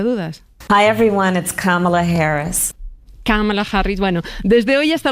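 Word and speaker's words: Kamala: que ya fue precandidata ya explicó que se pronuncia con la tilde en la primera cámara vamos a escucharla a ella misma decirlo para salir de dudas Hi everyone cala Harris camala Harris Bueno desde hoy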